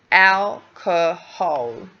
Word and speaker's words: alcohol: In English, we do need to create 3 syllables. Alcohol. Alcohol. That would be my guess